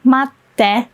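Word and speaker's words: 待って: It's just tsu with so yeah, they both shrink and then you don't pronounce it, you just pause for a bit and then add te. Let's start with tsu because we did matsu, matte already.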